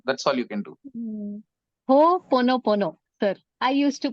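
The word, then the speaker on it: Ho'oponopono: Ho pono pono, sir. I used to pronounce it really wrong for a long Okay. time. Oh, Opopono, right?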